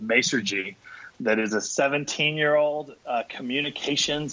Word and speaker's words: Masergy: Ray is the VP of Global Technology for Masergy.